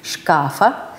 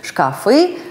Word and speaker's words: шкаф: по русски итак существительное шкаф мужского рода неодушевленное в единственном числе во всех падежах при изменениях ударения падает на а то есть шкафа шкафом шкафу в предложный падеж имеет две формы где шкафе и шкафу и та и другая имеет право на существование а вот во множественном числе ударение перемещается на второй слог шкафы шкафом шкафах шкафами так что почаще открывайте